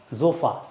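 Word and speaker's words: Sofa: जोफ़ा, एस को buzzing sound आती है, जोफ़ा।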